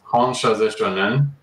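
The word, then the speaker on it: Hon Sha Ze Sho Nen: It's pronounced Honshazeshonen.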